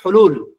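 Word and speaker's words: حل: আমরা যেমন বলি যে ভাই এই সমস্যা একটা হল করেন। বাংলাদেশের আরবি সব মানে উচ্চারণে বলে হল করেন। হল, হল মানে কি? হাল, মূলত শব্দটা কি?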